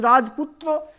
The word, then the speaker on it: Rajputra: Means in Bengali, sometime if the two words are combined, the middle vowels may be pronounced like that. We say Rajputra, that Rajputra, if it is Rajputra, then it is middle vowel is deleted.